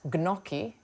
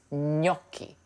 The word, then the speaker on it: gnocchi: Now gnocchi is um not gnoki and it's not noki. It's noki. Think of it as n y. Noki. And that first syllable, that's the one you really need to put the emphasis on, okay?